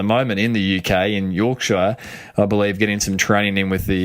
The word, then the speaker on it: Yorkshire: No, you got to say it right. It's Yorkshire. That's how they say it. It's not. They say it a funny way, and anyone that's from